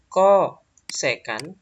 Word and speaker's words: kosekan: Kemudian ini kosekan ya. Jangan co ya, kosekan.